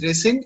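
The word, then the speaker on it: rescind: yes sir it's called resend okay okay it's pronounced as resend and it means cancel or reject the same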